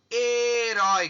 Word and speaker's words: herói: Então, nas regras de acentuação gráfica, por exemplo, herói, quantas sílabas? 2. Herói. Então, observem que a palavra herói, ela tem 2 sílabas. E qual que é a mais forte? Urói, herói. Então, dentro da oxítona, tem ditongo aberto.